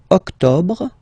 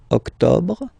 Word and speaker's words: octobre: Then same thing here. Don't insist on the final octobre, octobre, octobre.